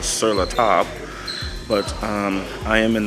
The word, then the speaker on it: Sur la Table: and i just we just learned how to pronounce it properly it's called surla top but um i am in the market for